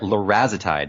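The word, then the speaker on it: larazotide: I'm sorry no sorry larezo tide that's the right pronunciation larezo type and what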